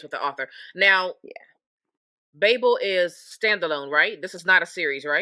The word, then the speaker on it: Babel: Oh, did you Okay, so It's Babel.